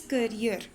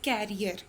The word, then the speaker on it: career: Today we are going to translate chapter number 9, selecting the right career. Okay, let me clear you the one thing, class 10, that this word is pronounced as career, not carrier.